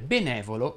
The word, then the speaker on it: benevolo: servizievole e così via fanno eccezione unicamente le parole benevolo e malevolo la cui eva pronunciata aperta tu lo sai che